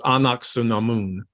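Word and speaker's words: Ankhesenamun: think they call her uncle Naman in this uh the best pronunciation of that literally is in the Frasier remake which is anaksunamun which is her real name or should be her name anyway um but they give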